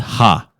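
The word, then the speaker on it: ห้า: you've been to Thailand the number five is pronounced ha and Tha so 555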